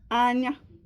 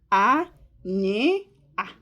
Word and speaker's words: Anya: Anya. Anya. Okay? I. Anya. I'll spell it in English. A n y a. Anya. In Igbo, a nye a. A nye a. Anya.